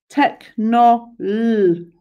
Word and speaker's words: technology: Okay, so that random H means it sound looks like tech, but it's tech. And then, so the next word, if you're working on your syllables, tech, we've written no.